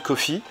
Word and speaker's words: Coffey: du film avec John Coffey, comme le café, sauf que ça s'écrit pas pareil.